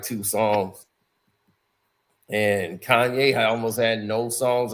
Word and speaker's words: Kanye: My name's Kanye, not Kane. He used to say that everywhere here because they used to call him Kane.